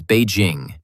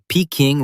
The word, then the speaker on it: Beijing: In Mandarin Chinese, the city's name is Beijing, meaning northern capital. Bay equals north. Jing equals capital.